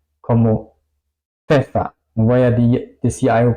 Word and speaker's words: Pfeffer: Pfeffer, pepino. Apfel, manzana. ¿Ok? Esa combinación suena un poco si alguna persona es un poco arrogante y dice, ¿qué más da? Así suena la PF en alemán.